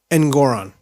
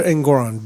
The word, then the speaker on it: Engoron: Because you're like, okay, Donald Trump came in there with Judge, I want to make sure I pronounce his name right. Engoron, okay? Arthur Engoron, Judge Engoron, okay?